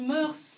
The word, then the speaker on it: mœurs: des mœurs en français on dit mœurs normalement ne prononce pas le S mais ici on le prononce il part des mœurs